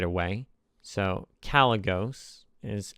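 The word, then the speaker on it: Kalecgos: haven't been saying the names right away so calos is how you pronounce it and it's a dragon which means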